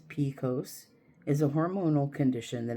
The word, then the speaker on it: PCOS: Polycystic ovarian syndrome PCOS often shortened and pronounced picose is a hormonal condition that impacts women in childbearing years believed to have a genetic component.